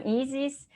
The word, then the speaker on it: Isis: here today uh i'm i'm easys that's how you pronounce my name so yeah i just